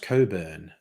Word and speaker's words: Cockburn: them foreign yes but that name is usually pronounced Coburn uh Dr ABIA which is a missed opportunity cockburn is um uh an excellent sounding